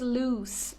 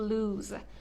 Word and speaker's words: loose: little material baggy loose the pronunciation is loose not to lose for example a sweater